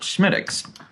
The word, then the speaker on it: Smithwick's: But it is a Gaelic pronunciation, and it is pronounced Smittix.